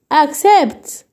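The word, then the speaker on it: accept: يبقى اما اجي انطق هقول عشان الكاف. سيبت. اكسبت.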